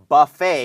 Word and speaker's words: buffet: เอ่อ เหมือน คำ ว่า Buffet นะ ครับ ที่ แปล ว่า บุเฟ่ นะ ครับ อ่า b u f f e t ตัว T ไม่ ออก เสียง นะ ครับ ค่ะ บูฟ